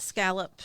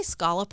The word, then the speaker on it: scallop: How do you say scolop or scallop? Yes. I'm a scallop guy. I'd say both. And I think it's it depends on who I'm talking to cuz you just said scallop.